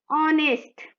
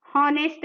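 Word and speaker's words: honest: Okay, नेक्स्ट देखें, ऑनेस्ट, हॉनेस्ट नहीं पढ़ेंगे, यहाँ भी एच साइलेंट है, यहाँ पर भी एच साइलेंट है, इसलिए यहाँ ऑनेस्ट होगा। ऑनेस्ट मतलब वॉवेल साउंड हो रहा है ऑनेस्ट, इसलिए यहाँ पर एन।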